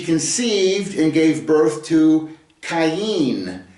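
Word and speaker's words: קין: and gave birth to Cen is the way it's pronounced in the Hebrew uh it's a c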